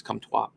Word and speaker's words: Comtois: But you have to watch how you pronounce his name, Max Comtois.